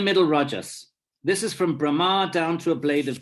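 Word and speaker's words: Brahmā: to an immobile plant don't get Brahma with a long a confused with Brahman Brahman with an N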